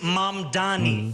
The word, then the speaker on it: Mamdani: and younger progressives like Mom Donnie, a state assemblyman and a self-described Democratic socialist. The name is Mom Donnie. M A M D A N I. You should learn how to say it.